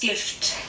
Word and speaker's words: Gift: The German pronunciation is Gift. gift, and it's pronounced pretty similar to the English version, except it means the complete opposite, which is poison.